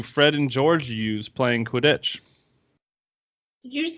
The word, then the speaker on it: Quidditch: You completely stressed on the second part. Quidditch. Of the word.